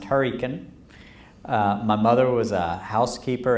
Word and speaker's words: Hurricane: was a country lawyer in hurricane West Virginia which we pronounced Huracan my mother was a